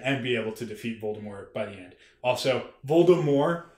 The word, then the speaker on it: Voldemort: you read it as Voldemort you were wrong yeah no you were wrong it's Voldemort like that's like that JK rling has said it's Voldemort you don't pron the t is silent but that's also my